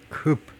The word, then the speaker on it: coupe: 다시 한번 쿱. 쿠페가 아니고 쿱라고 발음하네요.